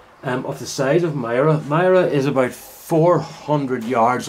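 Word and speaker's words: Moira: through a little village called Myra our Mara as people here sometimes pronounce it so there's a set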